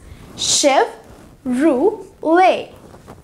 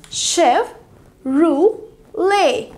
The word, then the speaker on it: Chevrolet: homologa next car brand name here go ahead CH e v ro le t which is pronounced as ship Roo way chef Roo lay Smitty silent him ship as such evey shelf